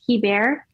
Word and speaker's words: Hebert: right i'm english but it is a french last name but i pronounce it he bear okay but in french